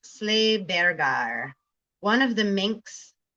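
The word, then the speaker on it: Sleih Beggey: Pronounced Sleighbergar.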